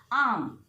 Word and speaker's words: arm: For example, arm. In arm also R is silent.